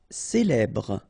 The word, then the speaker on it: célèbre: Célèbre. Okay, first you get this E, then here you get the E, so célèbre. Final E not really pronounced.